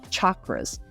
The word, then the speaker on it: chakras: her Jam is chakras I I've been saying it wrong all this time but it's chakras and she is absolutely